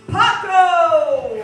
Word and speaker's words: Paco: Okay, and finally, Paco. Paco rhymes with taco.